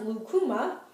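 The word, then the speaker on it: lucuma: it it has a maple like taste it's pronounced lukuma um it's ant has it's anti-inflammatory high in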